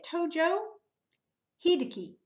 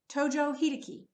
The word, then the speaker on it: Tojo Hideki: whoa so this guy this is it is Tojo Hideki Tojo Hideki so Tojo Hideki was general and Prime Minister